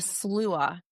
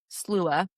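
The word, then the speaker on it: Sluagh: So the first one that we're going to talk about, it's called the Slua, and it's spelled Slugh, Slua.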